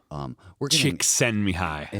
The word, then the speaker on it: Csikszentmihalyi: Csikszentmihalyi.